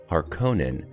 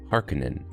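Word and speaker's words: Harkonnen: to how I said Harkin I wonder if these variations have something to do with where a person first heard the name film audiobook Etc the 1984 film used the long o or Conan where the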